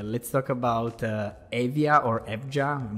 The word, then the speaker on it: Evja: talking about agritech let's talk about Avia or evja I'm not sure how to pronounce it Evia perfect so Avia agric startup just secured a